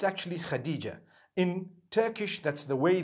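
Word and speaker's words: Hatice: across the name khadijah in turkish some people spell it h h-a-t-i-c-e i would say hatis for that no it's actually khadijah in turkish that's the way they write it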